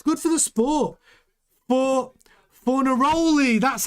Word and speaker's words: Fornaroli: For Fornaroli, that's how you say it. Yeah, thanks Vimesh. Fornaroli.